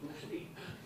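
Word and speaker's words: Ústí: their twin town of Usti, is it? Have I got the pronunciation right? Usti? Yeah. It sounds funny when you're speaking in Liverpool.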